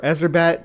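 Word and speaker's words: Erzsébet: That's some Elizabeth Bathory, or Ezerbet, I guess is the proper way to say her name.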